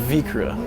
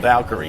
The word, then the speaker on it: Vikra: Couldn't figure out how It's pronounced Vikra. Vikra. I couldn't figure out how to say it. I pronounced it wrong forever. Yeah. I was calling it Valkyrie. Valkyrie. That's what you think when you drive past a sign. That's what it looks like.